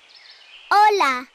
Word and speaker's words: hola: Особенности произношения мы сегодня не будем изучать, но вы слышите, что она не наша л, не наша л, а между ними л, л.